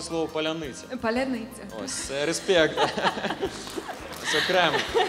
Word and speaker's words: паляниця: Ось, я навіть знаю, що ти вмієш вимовляти слово «паляниця».